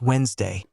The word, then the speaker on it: Wednesday: And yes, Wednesday, every time, in every English-speaking country. So, why does the word look like it has three syllables if nobody says the middle one?